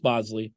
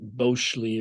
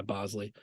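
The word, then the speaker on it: Boushley: home the point that it's Bosley not Bley or whatever it may be he said you know through the family lineage there's alternate pronunciations but he just goes by Bosley so yeah it's another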